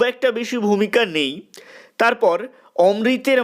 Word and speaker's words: অমৃত: হবে অমৃত ও ইশাব এই অমৃত উচ্চারণটা আমরা বাঙালিরা করি হিন্দিতে এই গল্প অনুযায়ী এটা হবে অমৃত তো অমৃত ও ইশাব